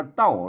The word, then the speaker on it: เต้า: ๆ ๆ เต้า นะ อ่าน ว่า เต้า นะ เสียง โท ปกติ น เต้า เห็น ม